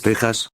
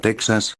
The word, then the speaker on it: Texas: para el gentilicio texano la pronunciación correcta en español es tejas en la notación de la rai o barra texas barra en la notación de la fe véase x1 texas lo cual es un error extendido en los medios hoy en día lo